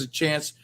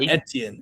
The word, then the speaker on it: Etienne: It's not Etienne. Achan. Yeah, I got it right.